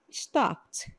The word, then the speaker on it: stopped: Então, stop, stopped. Stopped é a pronúncia. Esse final aí tem o som de tipo um t stopped, como se fosse um t, tá?